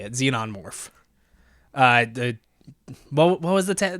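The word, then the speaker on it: xenomorph: morph z yeah that's how you say it xenon morph uh the what was the the tagline 20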